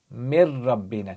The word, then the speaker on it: من ربنا: Join the meme to the ra, don't pronounce the noon, you say mir rabbina, because you have a noon sakin over there, and then you have a ra, yarmalun letter.